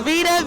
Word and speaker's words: Vita: They spell Vita like the cheese, even though I be smiling all the time, But it's Vita, VITA _MaShae, _. And that's on all platforms, Vita.